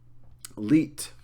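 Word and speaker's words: Lied: pronounced leit um cuz sometimes in German when you end the word on a D sound it gets more of like a DT or t sound uh leader is the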